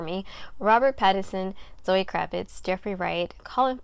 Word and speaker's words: Pattinson: robert pattinson robert pattinson i always say his name wrong i say patterson sometimes ignore me robert pattison zoe kravitz jeffrey wright